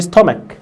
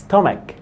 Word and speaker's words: stomach: because it hurts their stomach. على فكره دي نطقها stomach مش stomach، اسمها ايه؟ stomach. طب الناس ما بتعرفش تاكل ايه؟